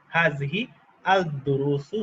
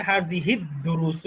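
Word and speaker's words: هذه الدروس: যারা আল বলতে চান, হাযিহি আল দুরুসু বা আল দুরুসু, সবকিছু আমি আপাতত কারেক্ট ধরবো। তবে বেস্ট উচ্চারণ হচ্ছে হাযিহিদ দুরুসু, যেহেতু এটা সূর্যাক্ষর। হাযিহিদ, ডালটা সূর্যাক্ষর, হাযিহিদ, হাযিহিদ মিলিয়ে পড়তে হবে।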